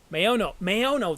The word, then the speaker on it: Maono: Maono.